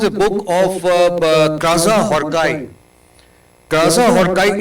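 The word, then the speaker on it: Krasznahorkai: Kaza Horkai is not written like that, but it's pronounced like Kaza Horkai.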